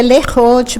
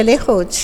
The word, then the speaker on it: Lerote: ruim a gente pronuncia lerote porque a sigla são é a primeira sílaba do nome das três irmãs que então é Lenise ou de Rosângela e o te então a gente pronuncia Lee Roth como é que surgiu